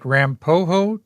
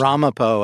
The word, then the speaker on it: Ramapo: Ramapo, I think, is the way I pronounce it in my head. And I believe that's what they said at Rutgers, where those tomatoes were actually developed originally.